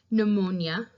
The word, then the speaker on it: pneumonia: written as a G you will sometimes see silent letters in Words usually these are prefixes that have a P and then another consonant right behind them and that's what we see in these